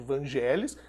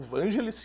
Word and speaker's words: Vangelis: uma obra do angeles que eu passei a vida toda chamando errado de evangéli eu não usamos atraso é depois de adulto que eu descobri a pronúncia correto o vangelis i é que tá certo isso o que é